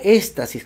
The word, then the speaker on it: éstasis: El aguantar la orina produce lo que se llama éstasis con S y con acento en la éstasis urinario, es decir, estancamiento de la orina.